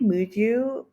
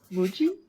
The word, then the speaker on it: Muji: I think Muju, is that how you say it? Muju? Muji? Muji? Muji, Muji.